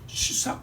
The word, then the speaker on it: 시삭: 그리고 우리 번역으로 발음을 하면 시삭 비슷하게 나옵니다. 시삭 이렇게 나옵니다.